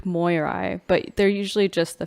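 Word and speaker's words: Moirai: you pronounce it um i think it's pronounced the greek moyeri but they're usually just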